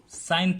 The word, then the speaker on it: sine: Okay, इसको हम complete नहीं लिखते, इसको जस्ट शॉर्ट में सीन लिख देते हैं, बट एक्चुअली प्रोनाउंस करेंगे हम साइन थीटा।